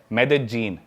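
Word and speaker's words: Medellín: उसकी एक सिटी है मेदजीन। स्पेलिंग में उसमें डबल एल आते हैं। मेदलीन होता है। लेकिन कोलंबियन स्पैनिश में ल बोलते हैं।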